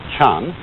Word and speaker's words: Chan: ZEM and that is the Japanese Way of pronouncing the Chinese word Chan and this in turn is the Chinese Way